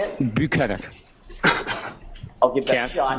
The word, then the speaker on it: Bukhenik: says no you're not he corrects Jackson on the pronunciation of his name he says it's buenik so I do have